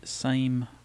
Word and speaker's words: SAME: to pronounce it as some call it Sammy some say same s AME it's a small attractor